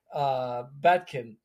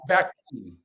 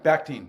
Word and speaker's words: Bakhtin: Batkin said, right? Bakhtin. Yeah. Bakhtin. He was Russian too. Bakhtin, right? Am I saying it right? Yeah, Bakhtin.